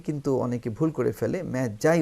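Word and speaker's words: Magi: Okay, I স দ্য ম্যাজাই, এটিকে কিন্তু অনেকে ভুল করে ফেলে, ম্যাজাই উচ্চারণ হবে, অনেকে মাগি উচ্চারণ করে, কিন্তু তা হবে না, এটা হচ্ছে আই স দ্য ম্যাজাই।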